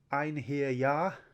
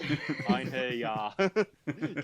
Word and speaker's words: Einherjar: Like, Einherjar. Like, break it down, and it's a silent, and it's a soft J.